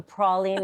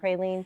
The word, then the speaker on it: praline: to I say it pronounce the wrong way So, too. It's also praline, not praline, for those of you.